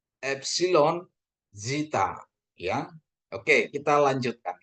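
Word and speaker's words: έψιλον: Ini penekanannya di atas epsilon. Epsilon ya.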